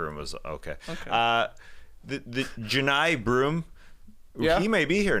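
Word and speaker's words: Johni: go watch Janai broom I didn't know that was a pronunciation good to hear it same I thought for sure Johnny yeah j o h n i that's Johnny no that's Janai different guy all my number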